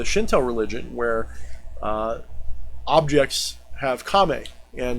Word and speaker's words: kami: religion, where objects have kame, and those kame can, or kami, I guess is the better pronounce. Kame is stance and kami is spirit.